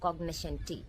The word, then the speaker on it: cognoscenti: இந்த cognoscentiல இருக்கக்கூடிய இந்த எஸ்சியை வந்து சென்ட் அப்படின்னு ப்ரொனவுன்ஸ் பண்ணிடக்கூடாது. இது வந்து இந்த ஃபேஷனில் இருக்கக்கூடிய இந்த இஷ்யூ சவுண்டு. ஸோ cognoscenti அப்படின்னு ப்ரொனவுன்ஸ் பண்ணணும். இந்த cognoscenti அப்படிங்கிற இந்த வேர்டுக்கு